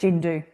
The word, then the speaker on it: Tjindu: So, uh Nadok week and I said you are director of the Chindu Foundation. I'm not sure if I pronounced that correctly. That's correct. Jindu Jindu.